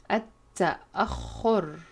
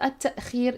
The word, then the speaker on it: التأخر: التأخر. And be careful with this verb. It's not التأخير, it's التأخر.